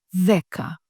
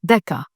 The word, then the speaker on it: δέκα: Δέκα. Δέκα. If you said δέκα, not good. Δέκα. Just like δύο. Δύο.